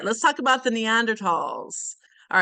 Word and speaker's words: Neanderthal: Okay, so you may also hear them called the Neanderthals, but that TH in German is kind of a hard T, so the correct way to pronounce it is Neanderthal.